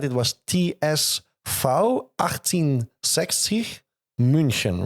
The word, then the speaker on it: München: We found out, and I think I pronounced it right? It was TSV 1860 München, right?